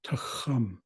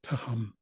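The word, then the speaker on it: taghum: that first sound, so that GH is meant to represent that deeper sound. So if you really want to get technical with your pronunciation, it would be tahum. Tahum. But you could soften it and make it more like just a regular H, like tahum.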